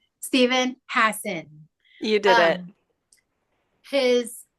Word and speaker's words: Hassan: We have now landed on the correct pronunciation, Steven Hassan.